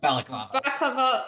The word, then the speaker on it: baklava: I know there's a word that's similar to it that's like a head wrapping thing. It's literally the exact same word. Or balaclava. Balaclava. Baklava. Listen. Baklava.